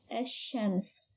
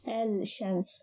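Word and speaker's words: الشمس: Examples of it is ash-shams. Ash-shams. We don't pronounce it as al-shams.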